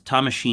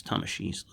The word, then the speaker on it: Tamashii: not bandai's logo it's tamashii's logo so very very cool tamashii tamashii actually sorry if i butchered the japanese pronunciation i thought it was always the emphasis is always on the third syllable but i don't it's